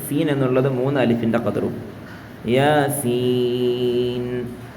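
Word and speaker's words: يس: യാസീൻ തുടങ്ങട്ടെ യാസീൻ ഓക്കേ ഇവിടെ യാസീൻ ഇങ്ങനെയല്ല യാസീൻ ഇതാണ് യാ ഒരൊറ്റ അലിഫിന്റെ ഖദറും സീൻ എന്നുള്ളത് മൂന്ന് അലിഫിന്റെ ഖദറും യാസീൻ ഖുർആനിൽ മാഷാ അള്ളാ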